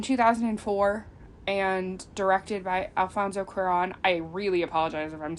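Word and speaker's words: Cuarón: and directed by Alfonso quiron I really apologize if I'm saying that wrong um I don't speak Spanish um and all of the English speakers that I have heard pronounce his name say Quran so I apologize in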